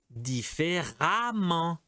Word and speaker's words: différemment: L'adverbe, c'est différemment. Différemment. B, intelligent. L'adverbe intelligemment. Intelligemment. C, indépendant. Indépendamment. D, plaisant, plaisamment. Et E, excellent, excellemment. Toute cette colonne se prononce amant, excellemment.